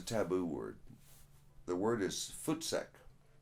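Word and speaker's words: voetsek: out of here it it comes from the dutch originally fort sec forth say i it sounds like the word foot sack there used to be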